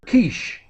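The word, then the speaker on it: quiche: head is aish kishish it's it's a French word Kish okay wish okay why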